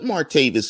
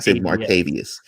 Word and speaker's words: Martavis: man up instantly put martavis in this wide receiver Gruber or is it much change a lot wouldn't it is it martavius you know martavius would be the african-american mispronunciation of the name it's armaid of this